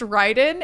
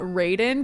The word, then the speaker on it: Ryden: It is pronounced Ryden and not Raiden because the name is Japanese and that is the Japanese pronunciation of it.